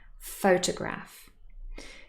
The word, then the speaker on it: photograph: example here we have the noun photograph three syllables faux toe graph and the stress is on the first syllable photograph now what happens if